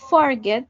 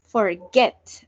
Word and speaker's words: forget: el verbo empezar yo no digo forget sino forget si ven La sentación está en el get cuando ustedes tengan un